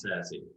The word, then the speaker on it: SASE: server service edge so it's definitely pronounced sassy that is in the